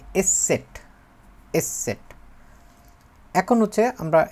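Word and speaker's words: ß: মত উচ্চারণটা দখলে আসবে আর এটা হচ্ছে এসে সেট এস সেট এইটা আসলে হয় যেরকম সেটা হতেছে ই এর মত আর কি মানে ডাবল এস এর মত বলে ডবল এস কিন্তু এটাকে বলে হচ্ছে এস সেট এস সেট এখন হচ্ছে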